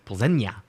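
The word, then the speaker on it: Plzeň: Everybody's been saying Victoria Plzen or Pulls, but it's Plzen. Makes sense. Little tilde on the end.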